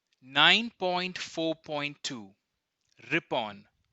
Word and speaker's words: Ripon: in district towns nine point four point two rippen pronounced r.i.p o n Lord Layton was succeeded by